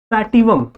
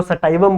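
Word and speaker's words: sativum: Scientific name है Pisum सैटिवम। ठीक है, सैटिवम बोल लो, सटाइवम बोल लो, जैसे आपको स्पेलिंग याद होता है आप उस वैसे आप प्रोनाउंस कर सकते हो।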